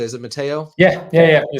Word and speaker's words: Matteo: Is it Matteo?